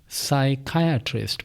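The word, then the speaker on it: psychiatrist: और वह लफ्ज है सकाया सकायास्ट इसमें दूसरे सिलेबल पर काया पर सी एच जो है काफ की आवाज जरा इस पर मुझे जोर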